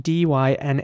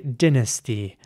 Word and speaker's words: dynasty: at now is spelled d-y-n-a-s-t-y now how would you pronounce this word let me know in the comments in British English some people would say Dynasty not everyone there's many